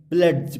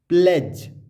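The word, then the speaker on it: pledge: यहाँ हम इसको एड्स नहीं पढ़ेंगे ना प्लेड्स पढ़ेंगे, यहाँ पढ़ेंगे एज, D silent, as. प्लेज, D silent, क्यों?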